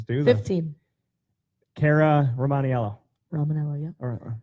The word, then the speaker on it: Romaniello: Romanello, yeah. Or Ramanello? Romanello. Ramanello. That I is silent.